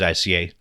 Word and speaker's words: ICXA: I would use ICXA, but a lot of people will drop the X and say A. So, um, whatever works. We can use ICA.